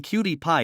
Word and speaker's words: PyQt: Python and cutie pie though I am saying cutie pie it is spelled as pyqt chatgpt has generated some